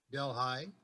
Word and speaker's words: Delhi: His education is as a graduate of the State University of New York at Delhi, pronounced Delhi.